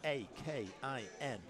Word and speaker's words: Eakin: this his name is Steve ekin that's e a k i n Steve and it's pronounced Akin actually Steve Ain but yeah there's